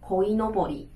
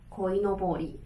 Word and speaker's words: こいのぼり: OK, 这是我们的鲤鱼旗，好，念作 koinobori, koinobori。